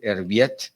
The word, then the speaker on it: Erviti: de lauren el viento no sé si lo pronuncia correctamente erviti sí perfecto dice hablar del ciclo